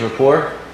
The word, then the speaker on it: rapport: Second stage is rapport. There's a silent T on the end of that.